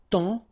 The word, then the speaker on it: temps: And then temps, okay, so in that case, it's only the nasal here that you will hear, temps, okay, because the P is not pronounced and the S is not pronounced.